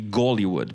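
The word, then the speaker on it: Голливуд: So, except in Russian it would be Gollywood, because I don't know, too much information, but they don't pronounce H in Russian. So a name like Hitler is pronounced Gitler. And Hollywood, Gollywood.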